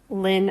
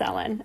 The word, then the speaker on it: ln: so some people say Lin I don't know some people say try to pronounce this as a word it's not it's Ellen Ln of X so you just pronounce each letter Ln of X so